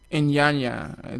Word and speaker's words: Iyanya: Speaking of artists, recently your company was supposed to bring in IYANYA. That's how you pronounce his Yes.